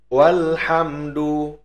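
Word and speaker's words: وَالْحَمْدُ: Namun, jika ada huruf atau kata sebelum "alhamdu," misalnya, di sini huruf 'wau' mendahuluinya, maka cukup dengan mengatakan "wal," bunyi 'a' tidak lagi ada.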